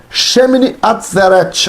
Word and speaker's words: Shemini Atzeret: Shemini Atzeret, assim é que se pronuncia.